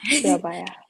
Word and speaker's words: Surabaya: You started Haru Studio in 2023 as Surabaya. Am I pronouncing it correctly? Yes, it is Surabaya.